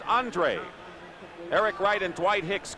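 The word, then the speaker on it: Andrua: it's incomplete andre thompson he spells his name a-n-d-r-u-a but it's pronounced andre eric wright and dwight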